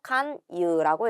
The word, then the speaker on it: 勧誘: 요렇게 권하다라는 한자와 유자를 써서 칸유라고 읽게 되는 거예요.